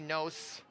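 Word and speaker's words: Gnos: to the goaltender delaney knows that's g-n-o-s i'm gonna say that the g is silent i might be wrong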